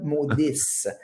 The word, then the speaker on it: maudisse: Fait que, genre, avec maudisse, ça vient qu'un petit D apicodontal, là, qu'on dit en prononciation, là, maudisse.